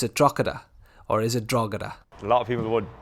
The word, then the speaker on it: Drogheda: we call a dragon we don't use the G or the H it's just it's strata